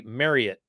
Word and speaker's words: Marriott: hotel company marriott incorrectly the name is actually marriott like you get married to it marriott it's how they pronounce it we all have the